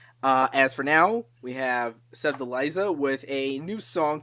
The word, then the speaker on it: Sevdaliza: This one is pronounced Sevdaliza, coming in with track number 23.